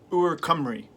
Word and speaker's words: Ooh Chocolata: I got the words here, and basically it's pronounced Ooh Chocolata, which means Welsh gold.